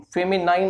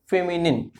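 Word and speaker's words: feminine: ये ध्यान से प्रोनाउंस करें, फेमिनाइन नहीं, फेमिनिन।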